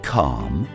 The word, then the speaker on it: calm: In lion, for example, we pronounce it loudly and proudly, whereas in walk, we never pronounce it at all. Or in calm, palm, or calf.